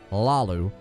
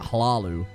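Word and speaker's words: Hlaalu: I wish they decide how you pronounce Hlalu, because he just said Lalu, and then sometimes they say it with really hard emphasis, like Hlalu.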